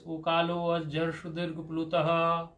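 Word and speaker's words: ऊकालोऽज्झ्रस्वदीर्घप्लुतः: For pronouncing purpose, you should pronounce it like this. Ukalo jarshudirg plutaha, like this. Ukalo jarshudirg plutaha, ukalo jarshudirg plutaha, ukalo jarshudirg plutaha. You should pronounce it right, like this.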